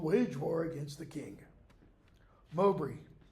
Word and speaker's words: Mowbray: Mowbray. That's how that B-R-A-Y, by the way, would be pronounced. Bree.